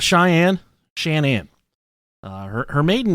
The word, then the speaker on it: Shan'ann: It's spelled Shanann. It's not Shannon, it's Shanann. And I really went out of my way to make sure that it was pronounced Shanann. Yeah. Not Shannon. Not Cheyenne. Not Cheyenne.